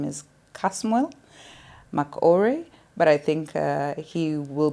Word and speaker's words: Kasmuel Mc'Oure: Kasmuel Mc'Oure. I said it right? You did. Oh my goodness. Yeah, you got it. I thought you were going to cuss me No, out. no, you got it. People say Kasamuel.